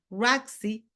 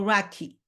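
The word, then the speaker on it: RACI: When you say the word Roxy, you can pronounce Roxy. Rey or Rocky. The three pronunciations are okay. So it could be Rocky, Rey or Roxy. That's perfectly fine.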